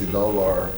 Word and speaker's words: Idolo: Now, before we went on the break, Omievi was telling me I didn't know how to pronounce her name properly. From what I know, her name is Omievi Idolo. She says Idolo.